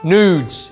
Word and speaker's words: noods: Nudes. It's very important how you pronounce that. Nudes, as in noodles.